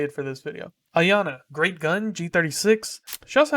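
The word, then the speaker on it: Iana: it's not the same Yana or Ayanna I always just say Yana I think it's Ayanna though I think that's the correct way to say it so I'll say it for this video Ayanna Great Gun G36 she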